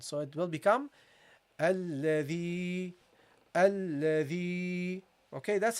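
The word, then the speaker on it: الذي: And because it is related to the kasra, you will prolong it, okay? The sound. So it will become alladhi. Okay, that's how you pronounce this, okay? Alladhi.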